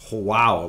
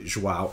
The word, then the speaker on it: João: I used to think it was João, like when the baby was born, the mother would say, João, it's a boy. But it's actually João.